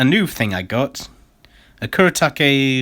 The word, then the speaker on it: Kuretake: this is a new thing I got a kuretake f gooi that's how you say it and